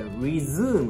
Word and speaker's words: resume: 下のもので、これ、resume という発音になります。